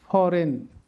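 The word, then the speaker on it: foreign: মানে ইংলিশ ওয়ার্ডের শেষে আই এনজি থাকলে উচ্চারণ হবে আইন ফরেন align রেজাইন campaign কন্ডাইন ফেইন choline এবার আমরা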